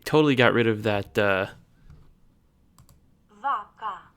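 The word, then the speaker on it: vacă: vaca, It sounds like the emphasis is on the second syllable. That might just be a weird Google Translate thing, but vaca, vaca, vaca, and that's a different vowel sound too.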